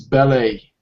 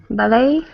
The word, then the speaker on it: ballet: you would pronounce this ballet ballet yeah I I don't know about it ballet it's actually a French word okay yeah um maybe